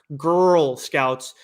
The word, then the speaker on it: Grrl Scouts: But then we also have Girl Scouts, Stone Ghost issue 1 from Jim Mahfood. So it's spelled GRRL Scouts.